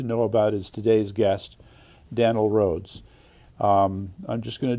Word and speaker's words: Danele: It's like Danielle, but not. All right. So Danele. Danele. Danele. So Danele. Mm-hmm. That's me. Got to get the accent on the right syllable.